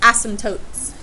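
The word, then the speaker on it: asymptotes: as y m p t o t s ASM tootes okay vertices and ASM tootes for a hyperbola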